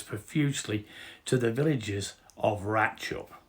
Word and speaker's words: Ratlinghope: to The Villages of ratchup as that is the proper pronunciation of rattling hope so sorry about that